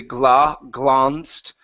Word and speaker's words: glanced: And last one here is glanced instead of Well, I guess you can you can say glanced. Okay, more of an a sound here.